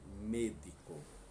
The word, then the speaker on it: médico: Só não vai ter a mesma pronúncia, porque, vamos lembrar as regras, E e O, acentuado ou não, eles têm som fechados. Então, logo nós temos el médico, tá?